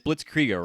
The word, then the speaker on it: Blitzkriega: I'll introduce you, but also I'll say Blitz, and it's Blitzkriega, right? Like a Blitzkrieg.